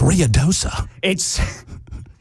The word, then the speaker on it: Ruidoso: I mean, they were ready to fight me because I was mispronouncing so many names. It's Ruidoso.